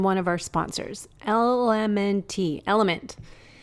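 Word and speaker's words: LMNT: of our sponsors LMN element it's spelled l MNT but pronounced element if you haven't heard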